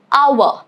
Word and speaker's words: hour: Alright, rule number 2 is it is silent at the beginning of words, often when succeeded by letter O. For example, hour or honest.